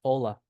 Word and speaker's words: hola: For example, H is never pronounced. It's never pronounced. Okay? So, words like hola are pronounced hola.